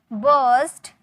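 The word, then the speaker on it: burst: बस्ट इट आउट। फोड़ दो। बस्ट इट आउट। इसे आर साइलेंट होता है। बस्ट बोलते हैं। बस्ट नहीं बोलते हैं।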